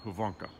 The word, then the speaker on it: Hyvinkää: And that is correct pronunciation, Hvanka.